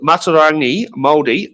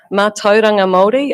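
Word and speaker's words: mātauranga Māori: Um, how will you incorporate uh ma was it maturangi moldi moldi knowledge into environmental planning and decision making? Thanks Sam. Manga moldi I think is the um pronunciation you were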